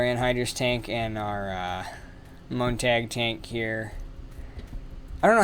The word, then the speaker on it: Montag: tank and our uh montag tank here i don't know how it's actually pronounced i'm assuming it's pronounced the same way you say monday in german which is montag or montag so that's